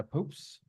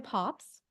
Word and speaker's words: Pops: welcome hi thank you it's pops Sher told me that but I couldn't it's not really spelled the way the way you pronounce it thank you Megan good